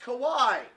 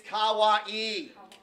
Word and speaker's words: kawaii: here here's the problem the word is not pronounced Kauai the word you are looking for it is kawaii ah wha e that beans cute Kauai means scary so if you're referring